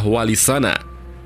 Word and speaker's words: Walisana: Mahmud yang artinya terpuji sehingga pengucapan yang betul adalah walisana ia berarti wali-wali yang